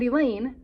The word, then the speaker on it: Elaine: or any class, and Elaine, rhymes with pain, The unteachables have been removed from the student body and isolated in room 117.